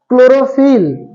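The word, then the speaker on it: chlorophyll: उच्चारण हो रहा था क्लोरोफिल। क्या? क्लोरोफिल। तो सी एच को का है वहां पे क पढ़ा जा रहा था, यही चीज था ना।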